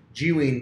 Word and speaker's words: Zhiyun: That's how you actually pronounce the company, Zhiyun Tech.